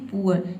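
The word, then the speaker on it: poor: जैसे कि देखिए ऊ के एग्जांपल पहले देख लेते हैं, पुअर। इसमें देखिए डबल ओ के बाद क्या आया है, आर लेटर आया है, तो यहाँ पे डबल ओ को हम ऊ पढ़ते हैं, ऊ, ठीक है।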